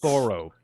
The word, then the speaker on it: Thoreau: writing about Henry Thoreau, which everyone Ah, mispronounces Thoreau, but it's the actually road. Thoreau, in case you care.